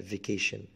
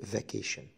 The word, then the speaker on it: vacation: vacation الأجازة، الأمريكان يقولوها بالكسر كده vacation، والبريطاني يقولوا vacation.